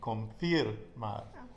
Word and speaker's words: confirmar: So conform would be conformar, and confirm would be confirmar, because the I is pronounced ir, ir, okay? I, and then with the R there, it's ir, confirmar.